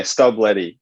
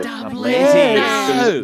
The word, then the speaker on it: Stubblety: How do you say your own name? What a ridiculous question, but it's a good one. Yeah, Stubblety. So Stubblety. it does have an L in it, but yeah, I always got called Stubblety.